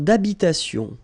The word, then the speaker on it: habitation: Une tour d'habitation. Remember, H doesn't exist in French, well, in most of the cases. So it does mean that you don't pronounce it. All right, so d'habitation. Une tour d'habitation.